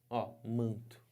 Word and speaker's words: manto: é a transcrição fonética manto Vejam Só que que aconteceu esse n aqui não tem um som próprio ele tá servindo Somente Para quê Para nasalizar o ar só para isso então embora eu tenha